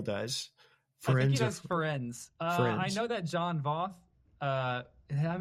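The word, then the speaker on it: Firenze: How do you pronounce the name of this centaur? Ferenzi.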